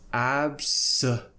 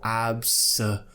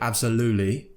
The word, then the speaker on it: absolutely: blue lululu absolute now you don't have to pronounce the T if you don't want to so the T quite